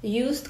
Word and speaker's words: used: Bude to a used car or unused car? Keďže used vyslovujeme na J, bude to a used car.